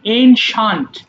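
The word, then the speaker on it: ancient: দেখো এটা আমাকে এনসিয়েন্ট বলি। বাট এটা হবে এনশান্ট। এনশান্ট মানে কি বলেছি?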